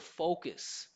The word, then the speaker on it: focus: will try to say the word focus, which has the O sound. Uh-huh. But if you don't say O and you say focus, You get in there you trouble.